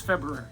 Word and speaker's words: February: have to present salvia it's february february not february february february there's an are there you got to pronounce it like the almond exactly that